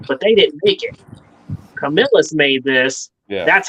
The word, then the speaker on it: Camillus: Thrifty's giving me some pronunciation lessons here. Camillus.